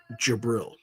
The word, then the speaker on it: Jibril: Okay, phonetically you would pronounce it Jabril.